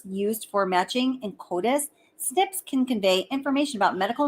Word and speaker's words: SNP: These variable positions are called single nucleotide polymorphisms, SMP, pronounced SNP.